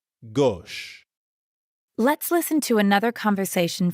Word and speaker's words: gauche: Gauche. It's kind of like the English word gosh, but with the O sound from story. Gauche.